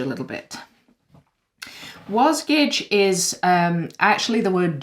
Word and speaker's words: Wasgij: does contain spoilers okay so diving into what's wozkage a little bit was gage is um actually the word jigsaw spelt backwards